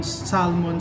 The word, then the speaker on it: salmon: may crep daw ang bu Thailand tapos pron Salmon spring Roll Salmon spring Roll silent L unahin